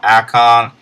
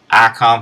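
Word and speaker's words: Ayecon: It's called Icon. It's spelled a little differently though. Instead of using the I, they use the A-Y-E. Icon for iPad, and it's by Evasi0n.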